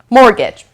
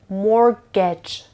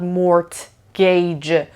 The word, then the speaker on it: mortgage: is called a Oh mortgage I doesn't care listen to the pronunciation of this word mortgage it's not more gauge or more gauge no mortgage mortgage mortgage is it happens almost